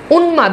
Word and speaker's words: উন্মাদ: এজন্য দেখেন ম এর উচ্চারণ আছে। উন্মাদ দেখেন দন্তনুর সাথে যুক্ত হয়েছে।